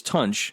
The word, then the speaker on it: Tunch: you think I'm misspeaking, it's Tunch, like punch. For a while there, I was saying it wrong, right?